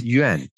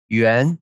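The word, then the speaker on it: 院: Those two words just pronounce the same in Chinese, Yuan, Yuan, but different tones.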